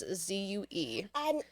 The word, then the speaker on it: Zhu: And then Vivian Zhu, if I'm pronouncing that correctly. It's Zue.